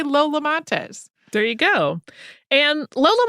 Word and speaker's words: Montez: I found some contradictory advice about whether people said Montez with the accent on the first syllable or the second.